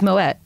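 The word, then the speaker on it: Moët: it more way it's moet oh my way well I what's the pronounced name the correct way to pronounce moet is moet well French people pronounce it that way it's French though okay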